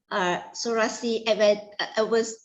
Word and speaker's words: psoriasis: Psoriasis how to pronounce the illness?